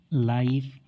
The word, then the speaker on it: life: LIFE, लाइफ।